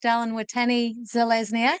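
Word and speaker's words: Dallin Watene-Zelezniak: Dallin Watani Zelezniak.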